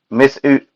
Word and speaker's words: Mizutsune: Mizutsune, that's how it's pronounced.